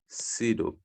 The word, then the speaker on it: pseudo: एक है nitrolic acid, दूसरा PSEUDO, सीडो, P silent here, सीडोनाइट्रोल।